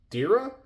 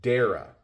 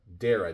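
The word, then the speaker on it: Derya: I think in the videos I say it's Derra, but it's Dara. Dara.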